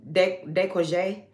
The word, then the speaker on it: décolleté: The collarbone, this, the décolleté.